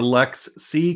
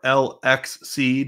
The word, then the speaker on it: LXC: uh all these are Lex C containers or lxc depending on how you want to pronounce that and if we